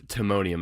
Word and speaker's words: Timonium: titanium town or what is it aluminum it's Timonium I can spell iton t t i m o n IU